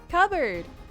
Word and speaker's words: cupboard: there not the cupboard how do you say it bro cupboard why why are you ignoring the p p doesn't exist p is not real why do why does